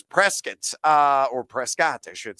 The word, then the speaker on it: Prescott: Prescott is a city in Arizona, and he spelled the same way, and you have to say it as Prescott, or they'll kick you out or actually not let you in the city limits.